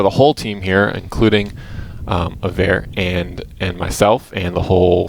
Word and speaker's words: Avair: I am your community manager, and this right here is Avair. Is that how you say it? Avair? Yeah. Avair.